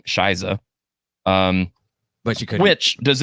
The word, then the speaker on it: Scheiße: I at first thought it was She Be, but it's actually pronounced how she sings it in the song, Shiza.